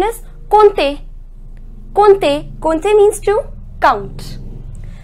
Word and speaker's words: compter: We neither pronounce M nor P. The pronunciation is compter.